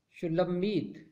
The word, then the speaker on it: شولمیت: تیسرا نام ہے شلمیت۔ اس کا درست تلفظ ہے شلمیت۔ اس کا مطلب ہے